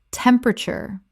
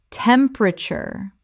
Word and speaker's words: temperature: comf-ter-ble comfortable Word five: temperature Common mispronunciation: temp-er-a-ture Correct pronunciation: temp-ra-ture This is three syllables in natural speech. The middle syllable is swallowed.